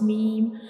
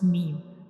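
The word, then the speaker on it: ميم: When we pronounce meme, our both of lips come together and dry parts touches to each other to pronounce meme, like meme, meme.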